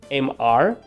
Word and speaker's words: Mr.: MR, yes, those are the letters. But when you see these two letters before the name of a man, it means señor, and you are going to pronounce it Mr.